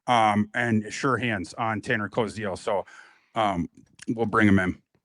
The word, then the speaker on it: Koziol: Yeah, it's Koziol.